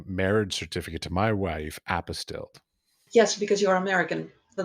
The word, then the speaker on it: apostille: Apostille? Apostille? Well, how is it No, pronounced?